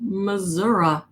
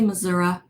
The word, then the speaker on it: Missouri: hello from Arkansas hello from California hello from Missouri oh is that how you say it Pam do you say Missoura no no way no Missouri yeah right I